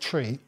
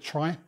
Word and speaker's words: trie: the reason is that it's actually actually comes from the middle of the word retrieve or retrieval in fact if we look on Wikipedia uh under tree says that trees were